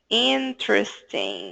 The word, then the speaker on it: interesting: film interesting the film para facilitar sua pronúncia imagina que a gente não fala esse e aqui que a gente junta o t com o r interesting Ok interesting tr tr interesting ok ok então é